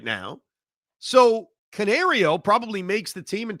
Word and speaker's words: Canario: pronunciation down completely well Canario it's oh there it is like a canary yes it's like a canary when they made the